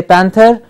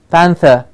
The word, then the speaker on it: panther: say Panther its Panther we don't say River we say River it becomes a vowel sound so please takes onto the vowel sound that's preceding it and the rear becomes nearly silent at the final position Panther Oh exactly yes